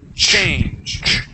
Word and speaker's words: change: Now the end the end of that word has a G sound. Okay. That sounds like a J. Okay. We say J change. Change. Okay. Well, here at the end of the word you're adding an a. Okay. All we say is change.